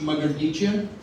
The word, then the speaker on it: Mardichian: So my last name is pronounced Mardichian. It's I'm of Russian Armenian descent.